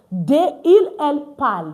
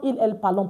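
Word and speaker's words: ils parlent: And for ill l which is a plural form for that's the il l pal not ill l palon. Please, we don't pronounce our entire French verb to what do we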